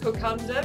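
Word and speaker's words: kokoda: It is pronounced kokonda because there is a silent N in the Fijian language just before that second.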